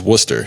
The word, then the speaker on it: Worcester: Well, they spell it like Worcester, but it's actually called Worcester.